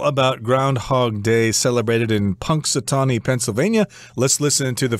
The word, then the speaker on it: Punxsutawney: very funny name how do you say it Punxsutawney yeah the only reason I know how to